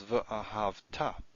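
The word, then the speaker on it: וְאָהַבְתָּ: The second thing I want to point out here is that the way you would pronounce this is v'ahavta.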